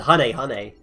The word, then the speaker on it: Hane: Which, by the way, is pronounced Hane, which is hilarious.